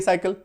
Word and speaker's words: cycle: चक्र, घुमाने के लिए साइकिल। क्लियर है। तो सी के बाद अगर EIY हो तो सी का उच्चारण उस शब्द में स होता है, जैसे कि CITY city, CENT Saint, CYCLE साइकिल।